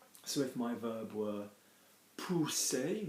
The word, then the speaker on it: pousser: So if my verb were pousser, notice I'm saying OU, not you, so pousser, like a monkey, pousser. Double S as well in French gives me a S like a snake.